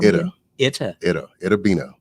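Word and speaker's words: Itta Bena: Itabena.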